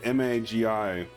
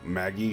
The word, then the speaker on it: Magi: I had a friend who used to argue with me that M-A-G-I was always, you know, Maggie. And it's like, what are you smoking? Who the fuck would pronounce that Maggie? Come on. Magi.